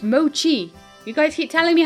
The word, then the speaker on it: mochi: a balloon on it the Maquis burn up no it's mochi you guys keep telling